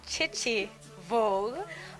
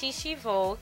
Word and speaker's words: Chichi Vogue: Well, Jamaicans will call it Chichi Vogue, but it's pronounced Shishi Vogue, and it means original fashion in French.